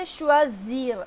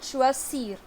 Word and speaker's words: choisir: Now I would say choisir and not choisir. Choisir is this. But I'm saying choisir. Z.